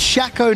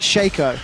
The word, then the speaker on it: Shaco: get them down it's it's pronounced shackle not shaco that's how i read